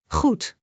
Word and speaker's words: goed: G is a soft throat sound. Like clearing your throat gently. Goed, repeat after me. Goed.